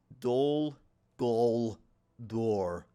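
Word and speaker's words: Dol Guldur: a straight path to do go door that's the way you pronounce it all right see if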